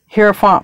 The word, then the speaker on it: Hierophant: They say I'm supposed to say Hierophant, but I say Hierophant because in Spanish I pronounce the vowels, and in Spanish I is E, and that's why I say Hierophant.